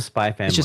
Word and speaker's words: Spy x Family: spy X family is it is do you pronounce the X when you say no it's a spy family spy family spy family yeah okay see it's